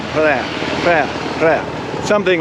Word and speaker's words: Phrae: Not Phrae, not prayer, more like Phrae, Phrae, Phrae. Think like try to make PR sound and someone punch you in the stomach or something, you're gonna vomit or whatever.